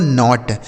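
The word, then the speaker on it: knot: तो के एन ओ टी इसे पढ़ा जाएगा दोस्तों नॉट। के एन ओ टी नॉट। यहां के साइलेंट है।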